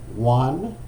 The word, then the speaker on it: Yuan: Eric Yuan, I think that's how you pronounce it, Y-U-A-N, started Zoom in 2011 after helping build WebEx.